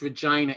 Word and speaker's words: Regina: from she said it's regina it rhymes with vagina just in case otherwise i would have